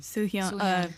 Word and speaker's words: Soo-hyun: Soo-Hyun.